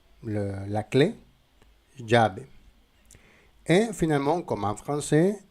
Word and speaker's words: llave: Si nous avons 12 L, la prononciation c'est je. Par exemple, dans le mot llave, la clé, llave.